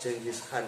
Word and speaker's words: Genghis Khan: Tulisannya itu GENGHIS KHAN. Bacanya Genghis Khan.